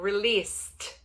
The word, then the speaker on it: released: O filme será lançado, released. De novo, o ED, ele vem com som de T.